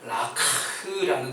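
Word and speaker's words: לקח: 가지가 있는데 그것이 바로 라크라는 단어예요 제가 어떻게든이 히브리어 발음을 잘해보려고 노력했습니다 마치 우리가 목 아플 때 하는 거 있잖아요 그 비슷한 발음이에요 진짜 그렇게 발음합니다이 라크라는 단어가 어디서 나오냐면요 하나님께서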